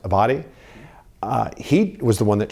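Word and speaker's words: Abbate: One of the deputies for former Director Wray, Paul, I believe his name is pronounced Abadi, he was the one that shared with us that, he has these anti-immigrant and anti-Semitic views.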